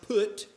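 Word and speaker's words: Phut: Cush and Mizraim, and this is probably pronounced Put, silent H, and the one we're going to look at briefly is Canaan.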